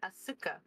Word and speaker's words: Asuka: I'm surprised you didn't pronounce it Asuka.